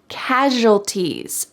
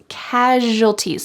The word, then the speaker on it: casualties: Casualties. Casualties. Notice the pronunciation of this word. Casualties. The S sounds like zh.